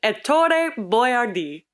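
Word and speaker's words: Ettore Boiardi: That story starts in 1897 in Piacenza, Italy, which is right outside of Milan, with Ettore Boyardee. And if you speak Italian, you're welcome for the perfect pronunciation.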